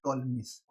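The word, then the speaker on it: Ptolemy: आइए अब एक बहुत अच्छी थ्योरम साइक्लिक क्वाड्रिलेटरल के लिए, वो है टॉलमीज। व्हाट, टॉलमीज, इसे टॉलमी पढ़ते हैं, पी इज साइलेंट।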